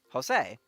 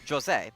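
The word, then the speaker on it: José: That's not how you fucking pronounce that name in Portuguese, and like the guy's Brazilian, so obviously you should pronounce it the Portuguese Brazilian way, which is I believe it's Jose is his name, as opposed to Jose.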